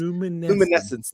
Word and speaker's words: luminescence: Luminescence. Four syllables.